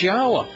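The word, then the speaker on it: Yahweh: and it becomes obvious how to pronounce his name it's yahwah none of this is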